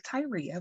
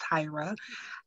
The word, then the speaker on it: Tyra: My name looks like Tyria, but it's pronounced Tyra.